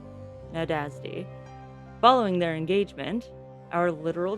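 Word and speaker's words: Nádasdy: This young man was 15 years old, and he was called Count Ferank Nadasti. I don't know if I'm pronouncing that right. Nadasti. N A D A S D Y. Right. Nadazdi.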